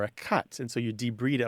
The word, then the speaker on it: debride: e b r i d e but it's pronounced debed and it's removing damaged tissue from uh or or trash or foreign objects from a wound or a cut and so you de breed it like for example if you get a